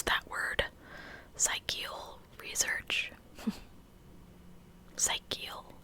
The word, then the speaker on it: psychical: Psychical, yeah, like psychic, psychical.